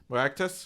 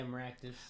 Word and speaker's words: Maractus: Looks like the regional one for this Pokemon is gonna be, pronounce this for me, Jay. Maractus, right? Yeah, Maractus.